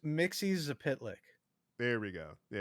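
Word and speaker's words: Mxyzptlk: It's pronounced Mixie Zapitlik.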